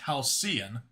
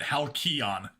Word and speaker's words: Hion: Hion is an awesome name. That said, I've always heard it pronounced Halian, but at least you're not pronouncing it Hon.